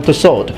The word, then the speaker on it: Tussaud: interest such as Madame Tussaud a purpose to pronounce the T because London is not in France if you hadn't noticed